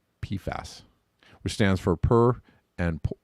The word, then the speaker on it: PFAS: commonly known by the acronym PFAS, pronounced PFAS, which stands for per and polyfluoroalkyl substances.